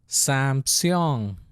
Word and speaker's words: Samsung: So when it is in the end, you pronounce it. In the beginning, you don't pronounce it. End, you pronounce it. Ing, seong, Samsung, Samsung.